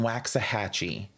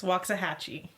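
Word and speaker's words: Waxahachie: other cities, including Cedar Hill, Grand Prairie, and Waxah Hatchee. And I know that that city is not pronounced Waxahhatche. Waxahhatchee. No, Cameron, really? What is the pronunciation? It's Wahhatchee.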